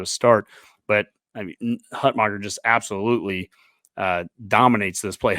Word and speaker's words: Hutmacher: Now, I heard that in the pronunciation guide, it shows that he should be named Hunt Maker, and I'm like, really?